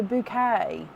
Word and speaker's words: Bucket: It's pronounced bouquet.